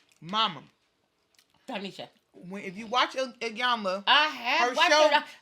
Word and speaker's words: Iyanla: You always gotta put some extra on the end. It ain't said that. Shoot, I spell it, I pronounce it. Yana. What? Yana, fix my life. That's what it says. It's Iyanla.